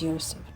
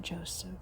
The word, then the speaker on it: Yseph: I did pronounce Yseph's name wrong in the beginning. It is is Yseph, not Joseph.